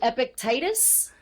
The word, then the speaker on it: Epictetus: I'm learning and I'm trying to learn the pronunciation Seneca, right? Yeah. And then is it Epictetus?